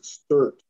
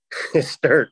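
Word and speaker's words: Stuart: Jensen Beach is pretty much part of Stewart. I don't know how to pronounce that right. It's Sturt. Sturt, that's right. Sturt.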